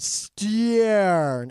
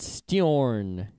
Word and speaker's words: Steorn: All right, so this Irish company called Steorn, Steorn. I'm linking to their website. I think it's like Storm, but Steorn.